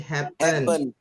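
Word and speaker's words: happened: Ada dan itu dan itu bacanya bukan happen tapi happen happen happen.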